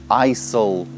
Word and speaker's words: aisle: как только это слово не произносит эйсу aisle айл это вообще проход между